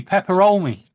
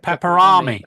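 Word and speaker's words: Peperami: Not just the pronunciation. I didn't say pepperomi. I said pepperami.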